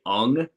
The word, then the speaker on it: Ung: Yeah, I've pronounced it ing as well, but then I when I would hear what the correct pronunciation was supposed to be, I would say ung. So I tend to say ung more.